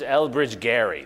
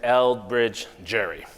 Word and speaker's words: Elbridge Gerry: His name was Elbridge Gerry. That's how people pronounced his name. But he's been remembered as Elbridge Gerry.